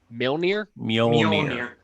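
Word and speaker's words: Mjölnir: Thor's hammer, whose name I can never actually pronounce correctly, so I don't try. Mjolnir. Whatever, you both got it. That comes to his hand, which means he is worthy to wield the hammer Mjolnir.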